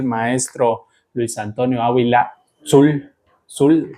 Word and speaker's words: Dzul: Zul, ¿pronuncia bien? Así es. Es un apellido maya, nos estaba platicando antes de empezar a grabar cómo se pronuncia.